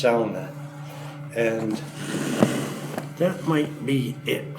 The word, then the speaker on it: sauna: Even though if you read it and pronounce it with English phonetics, you get it wrong. You'd say sauna, but it's pronounced sauna.